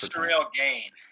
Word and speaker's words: Cyril Gagne: I honestly don't know how to pronounce it. It's Cyril Gagne.